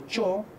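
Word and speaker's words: -chaw: En el locativo, por ejemplo, utilizamos nosotros el quechua de Ancash, el sufijo chao, que se pronuncia como cho, por la monoptongación.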